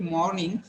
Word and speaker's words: morning: It's morning, so you're getting it aw, where you feel that there is a r sound, but it is not pronounced. People will feel that there is a r sound, but it is not pronounced at all.